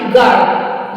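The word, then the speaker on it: guard: नहीं करेंगे जैसे जी यू ए आर डी गर्ड यहां पर यूज जो है जी के और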